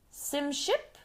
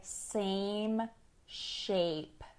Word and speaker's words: same shape: working at the salon, she asked me, "Sim ship?" And I did not understand what she said because her pronunciation of vowels was not good. She was trying to say same shape. So try saying that with me. Same shape. It's that A sound that can be difficult sometimes.